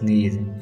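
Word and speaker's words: knees: Number five, he fail while catching a ball and hurt his नीज। इस sentence में word नीज में के silent है।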